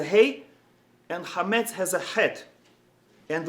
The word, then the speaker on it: Het: And even in the pronunciation, het, we have to, it's a guttural letter where we have to put in effort, het. Whereas hey is just breath.